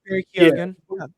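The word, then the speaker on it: Barry Keoghan: I thought about Barry Kogan or I forget how you say his name. Yeah. Yeah, you got it. Barry Kogan.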